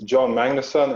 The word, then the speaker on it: Jon Magnusson: name is I can't in English is John Magnussen and in Swedish it's doin mine in a song but I usually go for the for the English pronunciation because not a lot